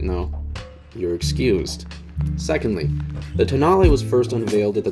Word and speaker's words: Tonale: after the stelvio pass it is not toenail stop it no one thinks you're funny if you're being purposely obtuse if you legitimately didn't know you're excused secondly the tonale was first unveiled at